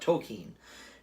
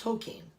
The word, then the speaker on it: Tolkien: about talking well I'm talking to you about tokine the new Jarrett okie and biopic and that's apparently how you actually pronounce his name I've been saying it wrong